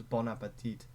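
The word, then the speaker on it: bon appétit: It was Bon Appetit, which actually pronounced bon. Or no. The N is the liaison because appetit starts with a vowel.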